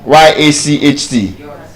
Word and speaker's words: yacht: Now the ch is silent. That's the first thing. And the a is not giving us a. It is o yacht. Yacht.